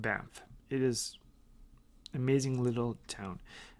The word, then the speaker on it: Banff: I live is a beautiful small town called BAMF it is amazing little town is spelled BA n FF wonderful and there's a